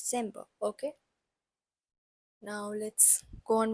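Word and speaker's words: Dezember: m b e r soed has a little bit s sound in it so it's pronounced as December like this December okay now let's go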